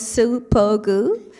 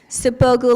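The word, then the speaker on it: Suppogu: My last name has 3 syllables, Sipogu. Sipogu like super glue.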